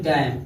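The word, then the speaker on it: damn: इसे देखिए डैम, डी ए यम यन साथ में है, यन साइलेंट हो गया, डैम पढ़ेंगे, क्या पढ़ेंगे डैम।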